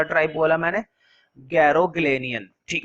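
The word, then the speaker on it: Garoghlanian: ठीक है, देखो वैसे इसको जैसे मर्जी प्रोनाउंसिएट करो, लेकिन अगर गूगल पे सर्च करते हो तो गैरोग्लेनियन निकल कर आता है। कुछ लोग इसको गार्गोलियन भी पढ़ते हैं, वो मेरे हिसाब से ठीक नहीं है, गार्गोलियन फैमिली, गार्गोलियन नहीं।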